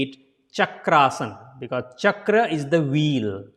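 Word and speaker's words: Chakrasana: will pronounce Chakraasana because this A and this A comes together to form big sound.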